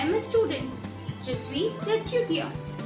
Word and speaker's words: étudiante: Je suis étudiante. Je suis étudiante. I am a student. Je suis étudiante. Remember, if you are a male, if you are a boy, you will say étudiant.